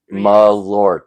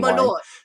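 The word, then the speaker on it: Malört: This is from This is Mr. Mayot from Westside. Malort. Say it correctly.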